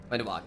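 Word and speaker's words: Wenduag: How do you pronounce her name? Wendwog. Wendog, yeah.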